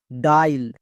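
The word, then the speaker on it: dial: ডি এর জন্য ডো, আই এ, এর জন্য আই, তাহলে ডো প্লাস আই কি হলো? ডাই। নেক্সট এল, এল এর জন্য কি হবে? লো। এবার একসঙ্গে উচ্চারণ করো, ডাইল।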